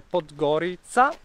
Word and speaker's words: Podgorica: Comunque siamo a Podgorica, ma che si legge Podgorica, è la capitale vera del Montenegro.